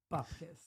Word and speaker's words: bupkis: How do you say it, Lorna? Bupkis. That's it. Just Bupkis.